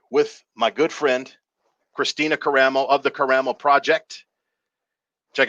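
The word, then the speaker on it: Karamo: It Karen ain't Caramo. Curtis. It's Caramo.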